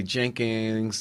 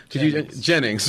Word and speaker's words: Jennings: Tim, I always say your last name wrong. I'll say Jenkins. You know what? Jennings, right?